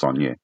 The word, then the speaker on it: Sagnac: But if you say, okay, fine, the Saunier effect, it's Sagnac, but it's Saunier.